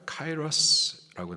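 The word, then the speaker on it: καιρός: 이거를 헬라식 발음으로 보니까 카이러스라고 나와 있습니다.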